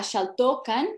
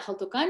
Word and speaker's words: Jaltocán: Obviamente era Xaltocan en náhuatl, en el posclásico, pero la comunidad actual lo pronuncia Jaltocán, entonces yo hago igual.